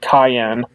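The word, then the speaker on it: Cyan: name is actually Cayenne like cayenne peppers it's spelled the same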